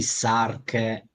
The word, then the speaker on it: Sarke: perché c'è il nostro carissimo Anders come io mi scordo sempre la pronuncia di questo gruppo, E Sark. Ok, Sark, quindi sì.